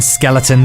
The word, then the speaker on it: skeleton: There's no ing in skeleton, no x in espresso.